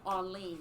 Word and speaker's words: Arlene: Arlene, you said.